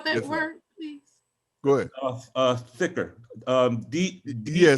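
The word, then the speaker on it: dhikr: word please good uh thicker um yeah some some people call it thicker thicker ring right thicker yeah yeah you put the put the tongue up to the roof of the mouth right so how do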